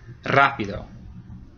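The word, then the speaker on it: rápido: this one simple enough it has an accent mark Rapido and if it didn't have that accent mark what would the what stress syllable would get stressed the middle one be Rapido which isn't a word Rapido that's the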